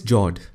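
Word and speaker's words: fjord: The next one is Jord. The F word is silent when you pronounce it.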